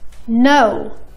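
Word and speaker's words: know: ولكن استمعوا لهالكلمتين. knife. no. حرف الكي ما نطقني.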